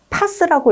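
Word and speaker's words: PaaS: 그 다음 아래쪽은 파스라고 읽겠습니다.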